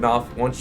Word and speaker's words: Knopf: at the same time, Knopf, once I know how to pronounce the first letter in your name, which is an N, so I got it.